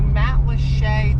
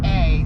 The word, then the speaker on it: Matlacha: It's Matlacha, so you don't want to say Matlacha, but that is how you pronounce it.